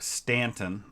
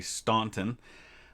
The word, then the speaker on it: Staunton: We're going to be fighting, I believe this is pronounced Stanton. I think that's how they pronounce that in Virginia, even though it looks like it should be Staunton.